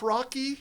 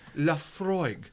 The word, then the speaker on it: Laphroaig: couldn't pronounce this laughs rocky but it says rocky rocky rocky but it's Laphroaig that so Pete which